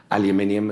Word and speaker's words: aluminium: of mentioned they're steel aluminium as I pronounce it I believe you say an aluminium that kind of thing